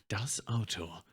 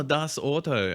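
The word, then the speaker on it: Das Auto: ad the Volkswagen ad it literally said it in a perfect German pronounced voice D AO and people still like oh D Auto I'm like do you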